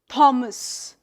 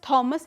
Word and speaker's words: Thomas: For example, if we talk about this name, most of us would read this name as Thomas. This as the right. But this actual pronunciation is like Thomas. So but then the pronunciation of the word it's a name. So the pronunciation cannot be incorrect. And we have uh th as a sound in our language repertoire. So that's why we mention it as Thomas and not Thomas.